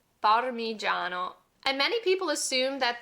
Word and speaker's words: Parmigiano: Our next Italian word that a lot of English speakers mispronounce is this one right here, parmigiano. Parmigiano.